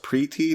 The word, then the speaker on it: Preeti: I think the name they were going for was pronounced Preeti, not Pretty.